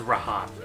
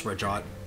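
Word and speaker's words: Rhajat: I think it's pronounced Rahat, but whatever. No, it's Rajat. Rajat.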